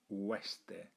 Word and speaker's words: oeste: And this last one, at the beginning, you've got a diphthong there. A diphthong is two vowels that you pronounce together. Now in Spanish, you don't say them separately, you pronounce them together most of the time.